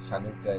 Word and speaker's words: Hanukkah: that is anyway uh happy chanuka or Hanukkah that's shanuka is how you actually pronounce it in hebu I don't know if